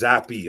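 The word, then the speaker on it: Zappe: Pronounced Zappy.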